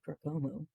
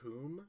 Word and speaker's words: Kum: Well, I'm going to try to do it toward Kumu. Uh, it's Kum. It rhymes with doom.